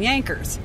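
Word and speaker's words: Jankers: so they called them Yankers which is spelled j-a-n-k-e-r-s and but pronounced J is pronounced as a y and so that's where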